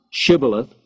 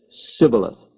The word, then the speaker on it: Shibboleth: 42,000 Ephraimites were killed at the fords of the Jordan when they were asked to pronounce Shibboleth, and they said Sibboleth.